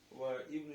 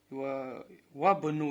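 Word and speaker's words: وابنُ: Вабну Ясирин таджирун. Вабну Ясирин. Тут ибну мудаф, Ясирин мудаф илей. Смотрите, вот вау, когда идет перед ибн, вот это хамзату васл не читается. Неправильно говорят ва ибну. Вабну. Вабну.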